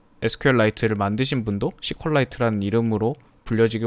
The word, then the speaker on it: SQLite: 그리고 지금 우리가 사용하는 SQLite도 참고로 지금 SQLite라고도 하는데 실제 단어에 대한 발음법은 SQLite가 조금 더 맞다라는 의견이 있더라고요. 실제로 이 SQLite를 만드신 분도 SQLite라는 이름으로 불려지길 원하신다라고 적힌 글을